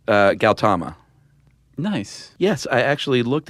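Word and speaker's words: Gautama: know that actually Siddhartha okay so the H is silent uh galtama nice yes I actually looked at pronunciations or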